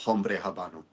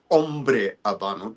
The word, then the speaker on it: Hombre Habano: Well, actually well actually it's not it's not Hombre Habano, it's Ombre Abano. There's no H's pronounced.